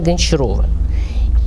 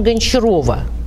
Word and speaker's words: Гончарова: Вот я Ольга Игоревна Гончарова. И вот причем Гончарова, а не Гончаров.